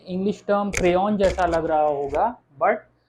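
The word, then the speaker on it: crayon: Okay, अच्छा, तीसरा हम एग्जाम्पल देखें अपना, सी जब आर यानी कॉन्सोनेंट के साथ आ रहा है तो क्या प्रोनाउंस हो रहा है? क्रेयों, से, आर, से, एर आ इग्रेक ओ एन, क्रेयों।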